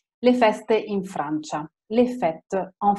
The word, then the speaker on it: fête: Ma qui no, vedete, fête finisce con una E muta, eccetera, eccetera.